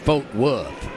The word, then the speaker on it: Fort Worth: man from Fort Worth my Texas buddies over there pronounce it f wood well your Texas